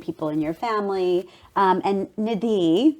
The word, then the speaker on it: Nidhi: And Nidhi, that's actually the Indian pronunciation, means precious treasure.